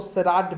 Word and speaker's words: charade: पहले तो स्पेलिंग देख लो, इसको सेराड बोलते हैं, सेराड, CHARADE, सेराड।